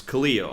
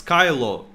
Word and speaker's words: Cleo: Cleo, it's Cleo. I was thinking it's Kylo, like like Kylo Ren, but it's pronounced differently, spells differently.